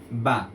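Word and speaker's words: ب: আমাদের যে নৌকাটি ছিল এই নৌকার নিচে যদি একটি ফোটা আসে তাহলে এর নাম হয়ে যাবে বা সঠিক উচ্চারণ হচ্ছে দুই ঠোট একত্র করে তারপর বলতে হবে যেমন বা আমরা আরেকটি 29টি অক্ষরের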